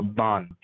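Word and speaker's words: Baan: It's B-A-A-N, but the pronunciation is like a Bond.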